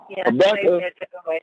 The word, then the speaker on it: Habakkuk: It say Habakkuk. Am I saying it right? Habakkuk.